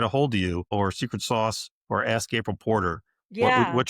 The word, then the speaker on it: Secret SOS: And then you can find us, we've been talking about the name of the company, Secret Sauce, but it's spelled a little funky. It's Secret SOS.